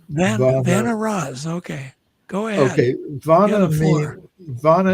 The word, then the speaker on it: Vanaras: I don't even know how to pronounce it. Varnar? How do you say that? Vanaras. Vanaras.